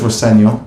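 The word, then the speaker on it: Rosenior: My dad says Roseno, which is is the way to pronounce it, but as long as it's nice.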